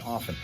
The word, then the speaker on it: often: And I don't pronounce the T in often.